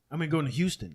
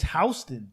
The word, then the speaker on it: Houston: It's like some shit like you come here and people are like, "Yo, I'm going to fucking Houston.